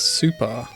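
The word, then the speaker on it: 超: although as you'll see it's written sure but it's pronounced super very similar to Dragon Ball super hmm they just put the the footy Gunner reading of super over the chore kanji do getting set up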